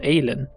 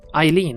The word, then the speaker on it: Eileen: Aylin. That's how they pronounce it, Aylin. Eileen, not Emilia, that's what I called her earlier.